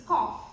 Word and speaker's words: cough: Okay, the transcription is K and O and F sound, cough, and they just read it as cuff.